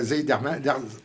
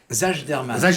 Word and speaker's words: Zajderman: Zeiderman. Zajderman. Mais en fait, vous avez prononcé correctement, mais dans un autre pays. Voilà. Parce que le J est prononcé I, mais bon.